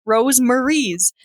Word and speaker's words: Rosemaries: Are you sure that's how you pronounce Rosemaries. it? Yes, because it's ROSE and then MARIES. Rosemaries.